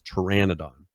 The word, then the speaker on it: pteranodon: I went and pulled it up and was like, what's the pronunciation of the way that they spell it in Ark? And it's pteranodon.